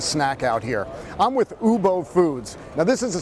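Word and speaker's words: Woobo: I'm with Ubo Foods. Now, this is a South Korean company, so Ubo is spelled W-O-O-B-O, but they're in booth 6423 if people want to find this.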